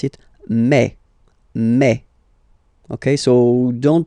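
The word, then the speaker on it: mai: And then you pronounce it me. Me. Okay. So don't pronounce e. Don't try to pronounce it. No, it's me. Me. So it's not my, it's me.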